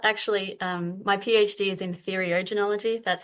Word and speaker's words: theriogenology: Actually, my PhD is in theriogenology. That's how you pronounce it, Trish.